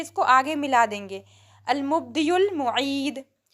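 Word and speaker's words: المبدئ: इसको आगे मिला देंगे, अल-मुब्दियुल मुईद। लेकिन जब हमें अकेले अकेले पढ़ना होता है तो हम आखिर वाले हर्फ को साइलेंट कर देते हैं। तो हम इसको सिर्फ कैसे पढ़ेंगे? अल-मुब्दी, अल-मुब्दी, ओके।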